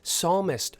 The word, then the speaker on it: psalmist: you devout catholic u it is psalmist i'm pretty sure that p is silent i mean maybe he